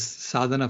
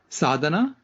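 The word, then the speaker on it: Sadhana: It's a vegan organization that reforests the planet and their name is Sadana Forest and um spell that Sadana.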